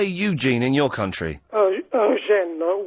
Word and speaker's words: Eugène: Eugène, with the emphasis on the gene, because we have an accent sloping backwards after the second E.